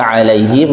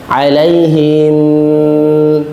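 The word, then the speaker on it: عليهم: anamtaai sekali lagiina anamai sering kita dengar membaca alaihim ada yang bacaai baca yang ada yang him mim sukunnya ditahan alaihim ya padahal yang boleh tahan itu mim yang tas tasdid bukan mim yang sukun giril magdubi alaihim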